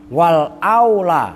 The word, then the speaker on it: wal aula: Walaupun begitu, wal aula. Nah, Kalau bacanya wal aula yang lebih utama. Kalau wal ula itu yang pertama. Kan beda pertama dengan yang utama kan.